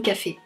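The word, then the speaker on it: Coffey: Un jour, il y a un détenu qui arrive dans ce fameux couloir qui s'appelle John Café. Comme le café, mais ça s'écrit pas pareil.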